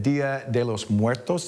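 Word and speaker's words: Día de los Muertos: It, of course, Halloween weekend, but it is also the Day of the Dead celebration, Dia De Los Muertos.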